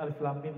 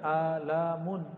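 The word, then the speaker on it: الم: Karena bahasa mereka masih bahasa bumi, sedangkan alif lam mim bahasa langit. Ya, semua orang Arab bingung. Kita alhamdulillah diizinkan Allah Subhanahu wa taala mendapatkan ayat-ayat seperti ini. Dan dibacanya bukan alamun. Alamun artinya penyakit, sakit.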